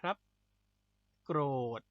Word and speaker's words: โกรธ: ธ ธง นะ ครับ วิธี การ สะกด ก็ คือ ก ไก่ ร เรือ เนี่ย เป็น ควบ กล้ำ นะ ครับ ก ร เวลา เรา สะกด ก็ คือ ก ร นะ โกรธ โกรธ คือ อะไร ก็